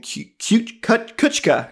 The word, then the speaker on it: Kuchka: And as we hop into number 8 is Emanu featuring Kuchka.